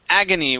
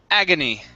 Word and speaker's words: agony: word here is pronounced agony with the stress at the very beginning agony agony okay very nice